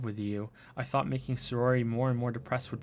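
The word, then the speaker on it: Sayori: that though also the same thing happened with siroy sirois so say roy what can i say her name sorori sorori sorori there we go sorori what is circle name sometimes gosh it's been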